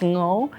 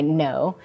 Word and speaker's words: Ngo: so I'm no and last name is NG o uh and it's a Vietnamese background it's typically pronounced no but uh but I go by no and uh born and